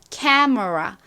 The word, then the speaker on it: camera: 자, 중요한 것은 앞부분에 강조를 빡 해주셔야 돼요. 그래서 camera가 아니라 camera 이렇게 앞을 빡 세게 발음해 주세요.